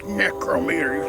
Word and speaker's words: necrometer: Now, Dan, it's necrometer. You said it wrong.